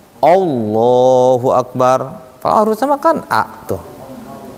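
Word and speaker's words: الله أكبر: pangeran macam-macam itu sebutannya kalau kita membaca lafaz ini hati-hati karena lamnya di sini lam tebal dia Iya lam tebal itu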